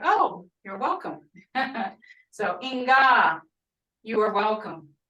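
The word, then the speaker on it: Enka: Inga, I've seen is spelled E-N-K-A, like I have here, or E-N-K-V. Either way is good. A lot of times the A and the V are interchangeable or intermixed in the Muskogee language.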